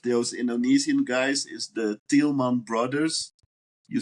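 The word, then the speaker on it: Tielman: And one really important name of those Indonesian guys is the Tilman brothers. You spell it T I E L M A N.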